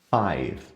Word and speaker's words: five: O número 5 ele se encaixa no mesmo caso do número 1, five. Por mais que tenha a vogal no final, a gente não pronuncia ela.